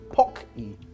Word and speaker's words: Pocky: forgiven for this one Pocky Pocky Pocky Pocky not pokey pokey Pocky Pocky yeah well I